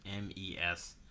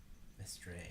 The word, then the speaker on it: Mestre: I know I pronounced that last one, but his last name's Mestre. Mestre.